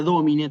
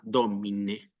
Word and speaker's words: Domine: no soy digno s la palabra domine también es una palabra de más de dos sílabas y se acentúa en la antepenúltima sílaba domine domine sí recordemos que